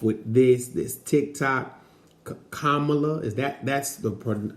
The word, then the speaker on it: Kamala: gotta start off with this this tick tock kamala is that that's the correct pronunciation of her name we're gonna be hearing